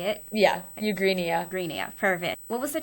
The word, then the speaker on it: Eugenia: Yeah, Eugenia.